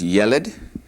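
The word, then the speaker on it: ילד: The word for boy, which we've already learned, is yeled.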